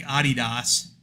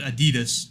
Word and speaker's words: Adidas: rather you know like Adidas you know which is how the Germans pronounce it we pronounce it Adidas yeah you know that's